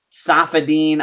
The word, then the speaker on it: Saifedean: can call me but the pronouncement the correct pronunciation of my full name is say 15 almost okay I'm gonna paste